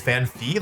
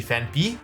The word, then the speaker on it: Phanpy: I always called this Phanpy. Like, I always thought it was Phanpy, but it's actually Phanpy.